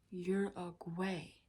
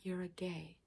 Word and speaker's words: Uruguay: the capital of Uruguay let's pronounce that one correctly Uruguay not you're a gay Uruguay yes what is